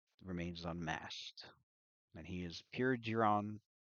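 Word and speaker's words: Piergeiron: Um, so this individual remains unmasked, and he is Pure Giron. I believe I'm pronouncing Pure Garon. It's Pure Garon.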